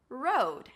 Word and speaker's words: road: Road versus road. As you can see, they're pronounced the same. Another R word, round your lips, then it's the O as in go, road. And finish it up with a D.